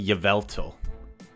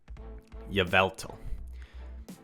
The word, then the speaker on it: Yveltal: how other people say I say Yveltal what what else do they say I can't even think of the alternate pronunciation so you know what that means mine is the right pronunciation okay Yveltal but I did not